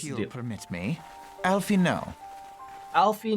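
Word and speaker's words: Alphinaud: permit me Alie know Alfie no the D is silent and my sister aliz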